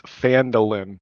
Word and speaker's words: Phandelver: an it's fandolin not the lamb yes it literally has the pronunciation right there well i i